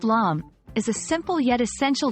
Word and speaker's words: lame: A bread lame, pronounced lame, is a simple yet essential tool in the world of baking, especially when it comes to bread.